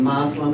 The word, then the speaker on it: Muslim: have the same beliefs and practices that mainstream Muslims to have and but yes about a third about I would say about a quarter to a third of the American Muslim community is African American so to answer that